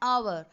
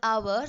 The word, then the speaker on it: hour: You say an elephant, an hour. In the word hour, the H is silent and you started with the vowel sound.